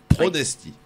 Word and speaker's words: Pronesti: Pronesti. Voilà. Comme ça se prononce.